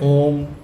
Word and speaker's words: ओम: हाँ, बस ठीक है, क्योंकि हम लोग कहते हैं ओम ओम म पे खत्म करते हैं, वो नहीं करना है।